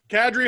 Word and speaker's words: Kadri: line in the league kadri hall and who cares that's how you pronounce it by the way i asked